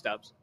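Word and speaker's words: Doubs: It's Dubs. Is it Dubs? Okay, Yeah. Dubs. Like wins.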